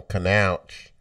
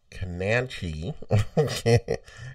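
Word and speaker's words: Kownacki: In boxing, we have Adam Kanauch. That's not how you say it. Adam Kananchi.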